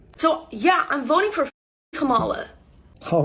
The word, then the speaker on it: Kamala: So yeah, I'm voting for Kamala. All right, we're back on the same page. It's pronounced Kamala, though.